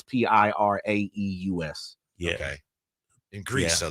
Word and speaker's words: Piraeus: So that's him arriving back in the city of Olympiacos, which is, I don't know how to pronounce it. It's Piraeus.